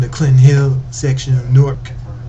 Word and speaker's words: Newark: First off, I hail from a city in New Jersey called Newark, or Newark as locals say down there, up there.